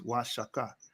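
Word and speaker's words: Oaxaca: in the spanish kids is pronounced the correct pronunciation of osh washaka is washaka denoting wages are higher and there's the hebrew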